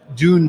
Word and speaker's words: Dune: It's not Dune. Dune. Like a sand dune.